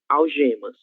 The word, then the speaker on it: algema: A letra G, diante da letra E e da letra I, tem o mesmo som da letra J, ok?